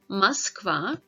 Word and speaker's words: Москва: Letter O is not stressed, then it is pronounced as A sound, like in examples Молоко, Москва, Мороз.